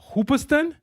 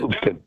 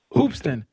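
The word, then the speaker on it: Hoopeston: Um so, if I'm reading this correctly on your Wikipedia page, it says you were born in Hoopiston, Illinois. Is that how I pronounce it? Hoopston. Hoopston.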